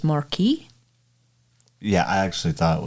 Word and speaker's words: Marquis: U I S and we usually pronounce that as Marquee. Yeah, I actually thought it was Marquee. I was corrected by a family. I thought you said Marquist.